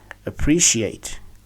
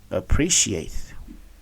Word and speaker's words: appreciate: pre sheate we said we stress the third syllable from the end that's y she and pre the word is to be pronounced as appreciate appreciate here is our word